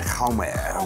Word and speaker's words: Jaume: I'm going to be chatting to Jaume Colette, that's how you say it, Jaume, with Spanish passion, director of a brilliant film, a brilliant young talent as well.